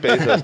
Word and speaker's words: Bezos: that dave weissman's company it's just pronounced basis tom okay pesosis i